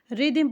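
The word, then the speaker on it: rhythm: हिंदी मतलब आप बताएंगे आर एच वाई टी एच एम को रिदम पढ़ते हैं इसकी भी हिंदी मीनिंग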